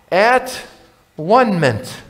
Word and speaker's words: atonement: up with the word atonement it's just that we don't pronounce it the right way it's at one mint jesus is the atoning